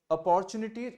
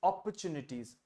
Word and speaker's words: opportunities: ये वाला शब्द जो है इसका सही उच्चारण, इट्स नॉट अपॉर्चुनिटी, इट इज अपॉर्चुनिटीज.